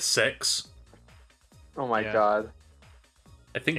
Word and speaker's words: CeX: but in the uk there is a store called cex well that's what i call it but i kid you not the actual commercials pronounce that as six oh my god i